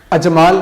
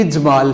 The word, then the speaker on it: اجمال: जहाँ तक दूसरे लफ्ज़ का ताल्लुक़ है, अजमाल नहीं इजमाल है, اجمال اختصار مختصر طور پہ کوئی بات بیان کرنا، اجمالن، اجمالن کہنا غلط ہوگا، درست تلفظ ہے اجمال زیر کے ساتھ۔ جہاں تک تیسرے لفظ